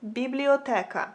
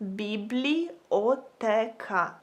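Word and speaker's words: бібліотека: So if you want to say library in Ukrainian, you would say it like biblioteka. Biblioteka.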